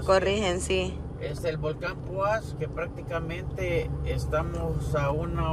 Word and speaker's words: Poás: asunto chada sí nos dirigimos especialmente al volcán poas así se pronuncia Sí bueno a si no es así ahí no disculpan nos corri aá nos corrigen sí es el volcán puas Que prácticamente Estamos a una hora casi 2